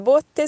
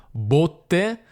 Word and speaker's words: botte: belle e è diverso perché abbiamo botte dove si tiene il vino e botte come quelle che dai una persona le botte nel mio